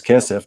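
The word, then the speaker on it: כסף: yatsa'a chinam ein kasef, or also kesef. It's spelled kasef here, but it's kesef, dealing with money or silver.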